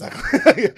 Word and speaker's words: Sutcliff: It's Sutcliff.